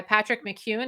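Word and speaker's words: Patrick McKeown: me the link to the breathing Cure by Patrick McKeon is that how you say it yeah so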